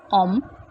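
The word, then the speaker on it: homme: french first word is om so here we are not pronouncing this h the pronunciation of this word is like om second we have och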